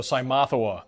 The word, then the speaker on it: Cymothoa: So Cymothoa, that's how you say it because people always can't pronounce the name correctly. Correct, that's how you say it. Cymothoa, just like it sounds.